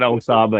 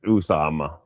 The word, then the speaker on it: Usama: And his name's not Osama anyway. It's Usama.